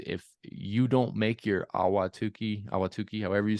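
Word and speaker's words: Ahwatukee: cleaning is it awatuki it's awatuki it's just you don't have to over pronounce any of the syllables awatuki there you go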